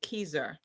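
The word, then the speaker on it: Kieser: for me please hmm i think it's k-i-e-s-e-r and she told me you pronounce it keizer thank you let me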